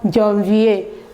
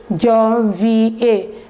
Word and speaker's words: janvier: The first month of the year is January, which is called janvier. Janvier. Répétez après moi. Janvier. Janvier. The second one is février. Février. Janvier.